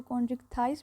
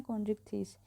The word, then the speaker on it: Chondrichthyes: आप इसको कॉन्ड्रिक्थाइस भी प्रोनाउंस कर सकते हैं या कॉन्ड्रिक्थीस।